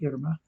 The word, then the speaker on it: Irma: Irma um Irma so you pronounce it Irma but they pronounce it yerma and um so we